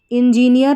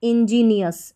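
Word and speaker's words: ingenious: दिखा सके तो उसको बोलेंगे इंजीनियस इंजीनियस इंजीनियर नहीं है। ध्यान रखना इंजीनियस।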